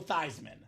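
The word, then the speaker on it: Theismann: they said Hey Joe let's change the pronunciation of your last name you are no longer thian you're are now Joe thyman now Joe nice person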